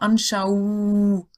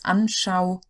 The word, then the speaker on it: Anschauung: So it's not a U, long U sound. It's not Anschauung. You couldn't even say it. Or Trauung. It's Anschauung.